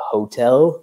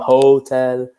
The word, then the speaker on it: hotel: We have a hotel. Just careful with pronunciation. So not hotel, a hotel.